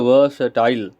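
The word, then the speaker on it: versatile: है वर्सटाइल वर्सटाइल okay उसको हम पढ़ते हैं वर्सटाइल आ साइलेंट हो जाता है तो वर्सटाइल पढ़ते हैं है और यह जो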